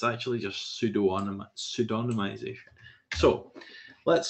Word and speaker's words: pseudonymization: Now, I would actually pronounce it like pseudo-anonymization, but it's actually just pseudonymization.